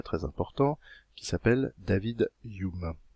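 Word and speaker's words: Hume: important qui s'appelle david youm ça s'écrit humain mais on prononce yuma je vous aimais de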